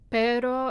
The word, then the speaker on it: pero: So let's say in Spanish it's the pero and perro. Those are 2 R sounds, but one sounds totally different from the other.